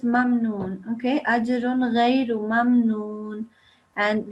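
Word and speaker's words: مَمْنُونٍ: I think you said something like mamnoon or something, but make sure it's mamnoon.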